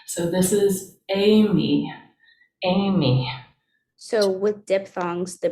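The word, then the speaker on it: εἰμί: catch tony so right this is an e i makes the a sound and that's a diphthong that makes one sound and we put the accent on the second amy is the verb to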